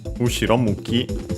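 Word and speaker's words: 後ろ向き: And so, literally, Ushiro Muki, unaccented, so be careful, means back facing, backwards.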